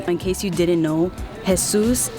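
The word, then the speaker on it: Jesús: don't you call him hey Zeus isn't that the proper way to say it no let me tell you something in case you didn't know has soos is jesus in Spanish okay like his name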